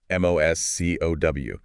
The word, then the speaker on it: MoSCoW: MoSCoW. The O's are just there to make it pronounceable, by the way.